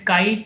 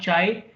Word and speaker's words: chi: written here now i i pronounce it kai not chai because i love chai i i drink chai okay so i don't